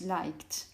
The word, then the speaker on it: liked: You concentrate on the sound, and the last sound you pronounce is this, which doesn't vibrate, so you pronounce liked.